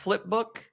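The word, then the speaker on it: Flpbk: and that website uh here is essentially it's pronounced flipbook you not spelled uh that way I mean the idea is that it's a flip book but it's F LPB k.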